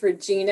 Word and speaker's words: Regina: from kansas this is regina thank you yes my name is regina and it can be awkward when someone mispronounces my name to rhyme with a female body part i'm always like wait